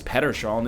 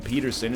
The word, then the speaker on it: Pettersson: But, you know, you got to see how Elias Pettersson is doing. And that is how you pronounce his name. I know you've been saying Peterson if you've heard it at all. Sorry to inform you. It's not Peterson.